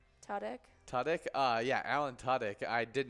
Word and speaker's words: Tudyk: Tudyk?